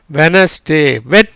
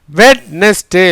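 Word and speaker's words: Wednesday: எப்படி உச்சரிக்கிறோம்? வெனஸ்டே. வெட்னஸ்டே இல்லை.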